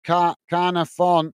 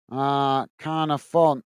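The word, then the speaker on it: Caernarfon: Oh, Carnafon. Carnafon.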